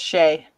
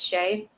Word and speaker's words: Shea: to pronounce it's just shea like s-a-j-y it's not shia it's shay yeah okay thank you